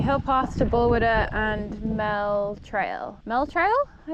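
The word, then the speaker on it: Balquhidder: The people I saw said Bullquidder, but I think that's actually not how you say it. We thought it was that at first. It's actually Bullwidder, I think. I think that's what the locals say.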